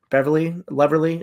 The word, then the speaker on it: Leverly: Did I say it right? You did, like Beverly. Leverly.